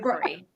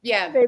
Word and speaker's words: Bavry: It's Bavry. Bavry.